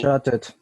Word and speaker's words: chatted: Si el último sonido es T o es D, se va a pronunciar el final. Entonces en at vamos a decir added. Need, vamos a decir needed. Are you following me? Want, you are going to say wanted, wanted. Yes? In the case here of the handout, we have the verb chat. ¿En qué termina chat? Sí. T. Chatted. So you have to say, So, the pronunciation is chatted.